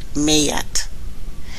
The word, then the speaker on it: Maat: to the constellation Libra Matt is actually pronounced mayat she is mahat of